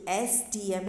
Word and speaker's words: SDM: वैसे ही SDM, okay, जो SDM है वो एस तो कॉन्सोनेंट है, बट वो साउंड किसका दे रहा है, वो बॉवेल का साउंड दे रहा है, SDM।